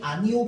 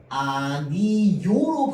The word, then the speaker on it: 아니오: 자, 그래서 이것은 책이요 또는 이것은 책이 아니요라고 하면이 아니오 발음 어떻게 해도 된다고 했어? 원래 기본 발음은 아니오인데 아니요로 발음하는 것도 허용한다고 했죠.